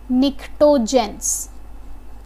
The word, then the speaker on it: pnictogens: Otherwise इसका एक और नाम होता है निक्टोजेंस, ओके। निक्टोजेंस, निक्टो जो वर्ड है उसके सामने आपको पी साइलेंट मिलेगा, पी हम लिखते ज़रूर है बट we don't pronounce that.